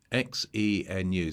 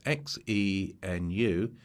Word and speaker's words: Xenu: XENU. So it's like menu spelled with an X. So go and find this on Google. It's called XENU.